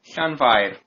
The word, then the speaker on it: Llanfair: Okay, double L is pronounced like you're hissing like a cat. Okay. Yeah. And then A-N, so Llan. Can. Yeah, and then Five. Can. fire with Fire. Can fire. Llanfair. And roll your R's if you can.